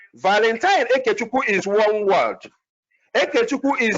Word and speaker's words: Ekechukwu: Ekechukwu is spelled E-K-E, not I, E-K-E.